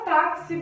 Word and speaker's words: táxi: E a palavra táxi, por fim, né? Táxi. O tá é a sílaba forte.